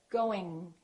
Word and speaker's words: going: So when you produce the G, let the G just kind of stay there. Going, going, going. Don't release it. Don't say going.